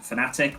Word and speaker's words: Fnatic: So they've invested 7 figures into esports, and they're partnering with entertainment brand Fnatic, which is spelled like Fnatic but without the first A.